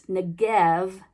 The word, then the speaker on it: Negev: Hebrew letter Beit, which we usually use the letter B to represent, but it's pronounced with a V, so it's Negev Desert.